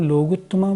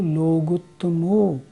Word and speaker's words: लोगुत्तमो: जब हम लोगुत्तमा बोलते हैं ना, तो केवली पर्णतो धम्मो लोगुत्तमो, लोगुत्तमा नहीं लोगुत्तमो ऐसे बोलना होगा।